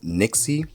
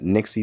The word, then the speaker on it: Nyxi: from a company called Nixie pretty sure that's how you pronounce it Nixie or NY XY pretty sure it's Nixie but we do have